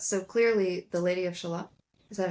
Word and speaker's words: Shalott: We were making jokes about So clearly the lady of Shalot, is that how you say it?